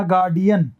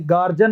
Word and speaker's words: guardian: गार्डियन, गार्डियन, गार्ड से बना गार्डियन, तो ये गार्जन नहीं होता, गार्जिन नहीं होता, ये गार्डियन होता है।